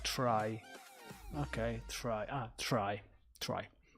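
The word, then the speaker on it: trie: helipad the Lord actually it's pronounced like try okay try ah try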